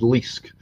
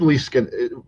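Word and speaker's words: Leask: one this is by David Liske no David Lee scan well as point out that rhymes with mollusk David Liske was the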